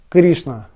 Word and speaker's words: Кришна: Кришна. Ш, Н. Вместе идут Ш, Н, Кри, Ш, Н, А. Поэтому И, она будет под ударением, она будет долгой. Кришна, ударение на И.